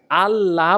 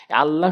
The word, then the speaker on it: আল্লাহ: আল্লাহ শব্দের ডান পাশে জবর আর পেশ থাকলে আল্লাহ শব্দকে আল্লাহ শব্দকে আল্লাহ বলা যাবে না বলতে হবে আল্লাহ আমরা যখন সচরাচর আল্লাহ